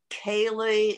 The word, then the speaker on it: Kaley: annual gabor kailey lecture and that's how it's pronounced gabor kaylee is shortened he's anglicized for the unpronounceable to